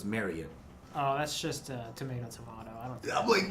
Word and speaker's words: Marriott: on the recess and I'm saying Marriott wrong it's like chariot so it's marry you oh that's just tomato